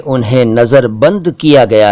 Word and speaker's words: नज़रबंद: जी हाँ, नज़रबंद का सही उच्चारण जैसा कि मैंने अभी अभी किया, नज़रबंद है, नज़रबंद, नज़रबंद नहीं, नज़रबंद।